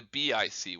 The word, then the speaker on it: BIC: pronounced ick, or the BIC, which is pronounced bic.